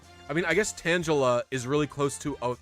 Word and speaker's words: Tangela: but no i say tangela yeah but someone's was saying they say tangela tangela i mean it's close to tangelo which is a real fruit nothing but it's like